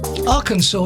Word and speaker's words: Arkansas: The way it's spelled Arkansas, it's spelled Ark Kansas.